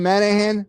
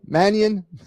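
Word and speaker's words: Mannion: Shawn Manahan. Manion.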